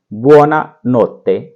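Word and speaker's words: buona notte: बोलते हैं, वो है बुओना नोत्ते, बुओना, बुओना नोत्ते। इसको बोलेंगे बुओना नोत्ते, बुओना नोत्ते। साथ साथ बोलिए और इसकी प्रैक्टिस कीजिए। ये है उच्चारण।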